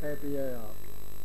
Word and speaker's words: abar: And Ab would be a contraction of the Irish word Abar, A-B-A-R, pronounced Abar, which meant a puddle of horse manure or a wet marshy place.